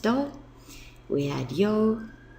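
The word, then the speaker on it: 土: place or soil and when you use it as a day of the week it's pronounced do we add yo B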